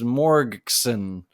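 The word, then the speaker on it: morgxn: Wonder by, I think I'm going to pronounce it Morgan, although the A in Morgan is an X, so it's Morgson. So it's the Small Pools remix. So Wonder Small Pools remix by Morgixon and Small Pools, obviously.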